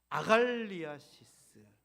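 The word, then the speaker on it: ἀγαλλίασις: 이거 발음을 잘 하셔야 돼요. 시작. 아갈리아시스.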